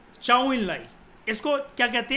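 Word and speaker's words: 周恩来: इसकी प्रोनाउंसिएशन है चाउ इन लाई।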